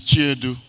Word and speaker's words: Chiedu: us not to know that the C in Nnamdi Onuorogun's name has to be pronounced, has to be known. And it is Chiedu.